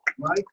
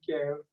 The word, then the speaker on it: Miguel: Mike and Lindsay. No, I want to hear him say his name. He says his name right. Yeah, my name is French. I'm French, so my name is Miguel.